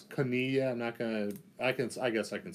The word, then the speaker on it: koinonia: In the Greek, that Greek term, it's koinonia. I guess I can spell it for you for those of you taking notes.